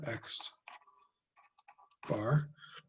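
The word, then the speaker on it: x̄: write this down as x bar this is pronounced x bar just say 2500 and how are we going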